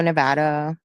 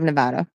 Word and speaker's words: Nevada: a travel nurse up and down Vegas Reno Nevada I love Nevada so much so that I learned that it's